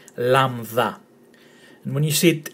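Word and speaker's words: λάμδα: So it's lama, that, you take away the A and the T, lambda. And when you see it in a Greek word, it's pronounced L, as in leap, lad, and lalana.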